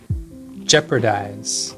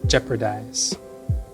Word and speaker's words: jeopardize: Jeopardize. Jeopardize. Although it's spelled P-A-R, I always pronounce it P-R-A.